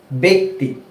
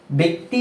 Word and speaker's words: ব্যক্তি: হয় যেমন উদাহরণস্বরূপ আমরা এখানে একটি শব্দ রেখেছি ব্যক্তি ব্যক্তি শব্দটার বানান কেমন বজ ফলা ক সংযুক্ত ত